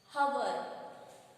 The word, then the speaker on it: hour: H is a consonant letter but we pronounce it as hour.